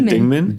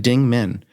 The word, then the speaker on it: Dingeman: The E is actually silent. Yeah, so you say Dingman? Dingman. That's how I've always said it.